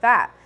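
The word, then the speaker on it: PHAT: A new SHSU organization reclaims the word FAT, but it's spelled P-H-A-T.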